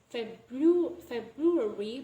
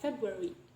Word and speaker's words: February: So we don't pronounce it as February, but we delay the R sound, so it becomes February.